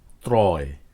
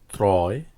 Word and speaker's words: ত্রয়: ফলার পরে অন্তস্থ অ থাকলে সে অ এর উচ্চারণ প্রায়শ ওকারের মত না হয়ে অই থাকে যেমন ক্রয় ত্রয় শ্রয় সূত্রানুযায়ী এগুলো হওয়ার কথা ছিল ক্রয় ত্রয়